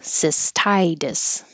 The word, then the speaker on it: cystitis: Anything that ends with itis is going to be 2 syllables, stress on the first syllable, itis, the T changing to a D. Pilgrims. Pilgrims. And here's another itis example, cystitis.